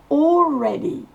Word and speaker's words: already: Already, c'est le re qui va exploser. Donc le EA se prononcera E. Re, ça explose. Et le premier mot, c'est all. AL se prononce O, comme un O long. Already. We have already asked. Le E ne se prononce pas à la fin et le D va se prononcer T.